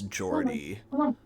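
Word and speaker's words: Geordie: guy um says that his name is Jordy uh which is spelled G E O R D I E.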